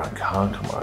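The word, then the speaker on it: Ronkonkoma: Ah, Rankankoma, that's right.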